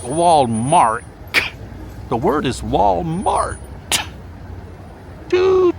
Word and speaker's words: Walmart: W-A-L-M-A-R-T. Walmart. Walmart. Now, the reason I emphasize the T at the end, Walmart, is because there are certain people who shall go unnamed who pronounce the word Walmart.